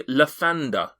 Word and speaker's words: Lathander: That would be Lathander.